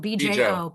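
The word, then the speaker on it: Bjo Trimble: Her name is spelled B-J-O. B-Jo. That's how you say it.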